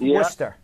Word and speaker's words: Worcester: It's in Worcester, Massachusetts. Yes. It's spelled Worcester, but pronounced Worcester.